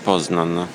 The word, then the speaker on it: Poznań: Siamo a Poznan, con l'accento sulla N.